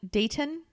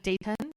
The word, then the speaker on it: Dayton: it's like stop pronouncing the t it's